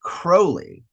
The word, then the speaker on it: Crowley: Crowley, which is incredible. Although, you know, it's actually pronounced Crowley and so, but I always thought that that